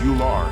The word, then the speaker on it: Ullr: Tree the pronunciation is you are with the emphasis on the first syllable however the name is